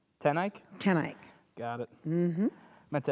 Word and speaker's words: TenEyck: your name save my life most people cannot pronounce my last name it's tenik tenik tanik got it meant to ask you before